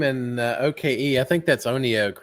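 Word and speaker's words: ONEOK: I think OKE is Oneoak. It's like one okay, or Yeah, yes, one OK. Yeah, I think it's that's how pronounced I pronounce it.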